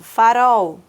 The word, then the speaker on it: farol: Por exemplo, quando eu escrevo farol, né? Farol. Eu tenho uma impressão, eu pronuncio como se fosse U, mas a escrita é L, porque ambas, tanto L e U, eles apresentam o mesmo som, né?